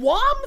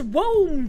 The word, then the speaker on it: womb: He forgot the B! He didn't put a B in it! He literally said WOM force! W-O-M force! This fucking... If it had a B, I know how to pronounce womb, chat!